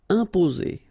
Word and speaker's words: imposer: Okay, remember, em together like that, and a consonant after, you will get here the nasal sound. So it will go like imposer, imposer. Okay, only one S between the two vowels, so it's the sound Z.